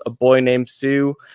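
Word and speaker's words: Psue: I got a podcast called A Boy Named Sue, like the Johnny Cash song, except Sue is spelled P-S-E-U because, do the math.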